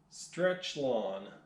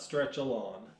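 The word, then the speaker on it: Stretchlon: I think I'm adding syllables in there. Stretch-Lawn. Yes, not Stretch-A-Lawn.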